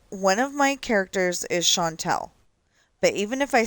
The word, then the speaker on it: Chantel: C, you know, it's C H A N T E L. Um, even when I spell it that way, it says Chantel instead of Shantel.